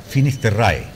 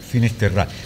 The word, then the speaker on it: Finisterrae: Finisterrae. Claro, algunos dicen Finisterra, otros Finisterrae. Finisterrae. Porque el latín no tiene... Traducción. Y no. claro, y no tiene una fonética distinta. Sí. Se lee como se escribe.